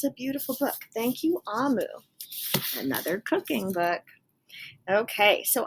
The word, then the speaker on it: Omu: Okay, so this is, and it says here, this is how you pronounce Amu.